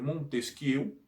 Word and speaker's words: Montesquieu: Se escreve Montesquieu, mas se fala Montesquieu, que ele é francês, né?